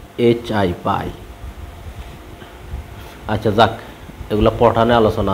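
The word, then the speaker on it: phi: দেখো এরকম পি এস আই সাই পি এর উচ্চারণটা হয় না আর এ ভদ্রলোকের হলো পাই পি এইচ আই পাই আচ্ছা যাক এগুলা পঠানে আলোচনা আছে অনার্স সেকেন্ড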